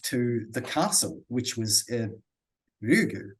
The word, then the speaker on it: Ryugu: And this name, how do I pronounce again, Kate? Ryugu. Ryugu.